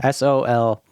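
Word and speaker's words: Soleil: In the PAL regions, it's It's called Solier. I can't pronounce Solier. I can't pronounce that word. Yeah. Soliel.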